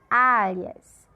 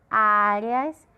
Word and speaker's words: áreas: Áreas, áreas. Nesse caso aqui, o áreas é uma sílaba paroxítona, porque nesse caso, áreas. A sílaba de maior força é o A, é a penúltima.